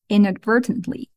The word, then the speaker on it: inadvertently: justice inadvertently is unintentionally the stress is also on the second syllable first let's pronounce verdantly then add the first syllable in it inadvertently you guys know advert